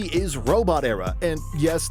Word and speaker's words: Robotera: Number 3, Robot Era. Number 3 is Robot Era, and yes, that's how you pronounce it, as 2 words, robot and era.